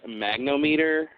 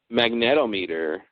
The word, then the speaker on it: magnetometer: their I think it's I think it's pronounced magnom meter magnom meter yeah that sounds a lot better maget actually um Wikipedia says the correct term is mag magnetometer oh maybe they said